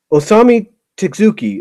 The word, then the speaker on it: Osamu Tezuka: can't I'm trying to pronounce his name it's tours to Asami I think oh let me check Osamu Tezuka Osamu Tezuka I'm sorry that I'm sorry pronounce it wrong tsuki Osama Kazuki was the